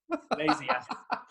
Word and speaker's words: Lesiak: It's more like Lesiak.